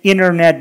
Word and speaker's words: internet: Ал эми эгер көргөнүздөрдө ударение энтиден мурда келсе, анда айтканда silent, анда ты окулбай калат.